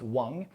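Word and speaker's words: 王: Now, this character here, king in Chinese is pronounced Wong.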